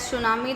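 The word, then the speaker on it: tsunami: इट is pronounce as सुनामी।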